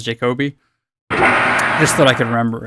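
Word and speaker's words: Jacobi: I always mispronounce it because all of the cheats in this game were developers' names. So I always remembered it as like Charles Jacob I instead of Charles Jacoby.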